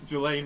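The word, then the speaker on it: Ghislaine: Is that how you pronounce her name? Jelaine Maxwell.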